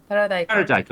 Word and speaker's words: Taradajko: Taradajko. Okay, so the J is silent. Excellent. Great. Or it's a Oh Y yes, sound. Yeah. it's like Yeah. Y. Yes. Yeah. Yeah.